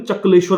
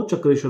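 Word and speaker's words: चक्रेश्वर: चकलेश्वर इसे महादेव कहा जाता है। पर ये है सही उच्चारण यह चक्रस्वर है।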